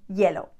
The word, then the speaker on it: hielo: Again, remember that the H is not there. It is there, but it's not there. We never pronounce the H. Café con hielo.